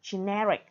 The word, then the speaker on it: generic: Ví dụ, gene là danh từ, generic, tính từ nhấn âm thứ hai.